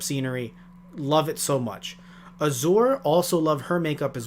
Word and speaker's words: Azure: the way i say i keep on saying her name is azul but it's not it's azure but the way they pronounce it it sounds like azul constantly yeah um but no it's azure a-z-u-r-e and the passenger